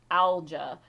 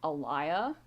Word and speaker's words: Alja: Oh, it's actually like Alja. Like how her name is spelled, it would be pronounced Alja. But I was pronouncing it Alaya, which would probably be how the Mediterraneans would pronounce it, but she didn't grow up in Mediterranean.